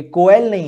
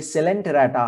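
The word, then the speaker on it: Coelenterata: तो देखिए इसका प्रोनाउंसिएशन भी, ये कोयल नहीं है, कोयलैन नहीं है, ये सेलेंटेराटा है, सेलेंटेराटा।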